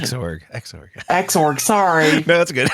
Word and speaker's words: Xorg: exclusively on Wayland, dropping Xorg support. Though X11 applications Xorg Xorg, sorry. No, that's good. Yeah, I know. I was I've never heard anybody say that. It's Xorg. Sorry. It's Xorg.